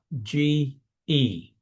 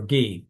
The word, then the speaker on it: ge: a Greek word, ge, G-E, in our English. And it's either ge or gi, but depending, right, on how one would pronounce it.